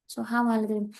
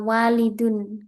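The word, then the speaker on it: وَلَدٌ: Ini dibaca waladun bukan dibaca walidun.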